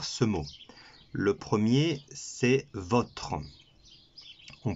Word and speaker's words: votre: Le premier, c'est votre. On prononcera le O, votre.